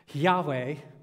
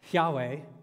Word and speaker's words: Yahweh: uh this name because in the ancient Hebrew text you have no vowels uh just consonant and so we really don't know nobody knows for sure how to actually pronounce this name 99% of Scholars think it's this Yahweh Yahweh we're not sure if